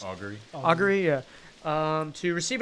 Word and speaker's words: Augury: Actually, may I take a moment for 11 minutes to cast a ritual of uh Argory? I'm not sure how it's actually pronounced. Augury.